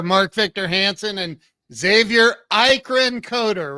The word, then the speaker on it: Eikerenkoetter: here we are Mark Victor Hansen and Xavier Ian coder right I'm saying it right you got it